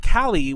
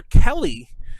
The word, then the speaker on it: Callie: And when I first met Callie, which is spelled C-A-L-L-I-E, like kind of like Cali, like California, C-A-L-I, I kept calling her Kelly, like as if like, you know, Kelly, like, you know, Kelleyy, whatever the fuck.